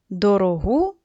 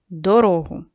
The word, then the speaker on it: дорогу: Давайте, дітки, з вами випишемо з тексту ці пари слів, які відрізняються тільки наголосом. Брати, брати, дорогу, дорогу.